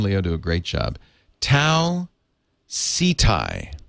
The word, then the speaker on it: Tau Ceti: The correct pronunciation of this star is Tau Ceti. Ceti.